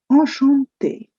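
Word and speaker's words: enchanté: The next word is ashante. Ashante. The ch in French becomes sure or shante.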